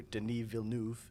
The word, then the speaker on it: Denis Villeneuve: So the film Dune is directed by Canadian director Denis Villeneuve, which is, it's just like everything else in French, where you have to cover up half the letters to pronounce it properly.